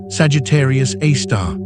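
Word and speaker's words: Sagittarius A*: We call it Sagittarius A, pronounced Sagittarius A star.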